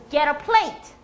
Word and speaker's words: get a plate: 이게 연음이 처리가 잘 되면 강세는 어디 들어갑니까? late에 들어갑니다. get a plate.